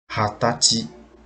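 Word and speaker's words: はたち: 20 day after month Hatachi hadachi is mean 20 years old and this it is also be the uh special reading order special pronunciation so you have to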